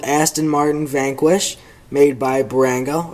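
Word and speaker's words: Bburago: Then next to the Beamer is a 118 old Aston Martin Vanquish, made by Barango, or I think it's supposed to be pronounced Barago, but I always pronounce it Barango.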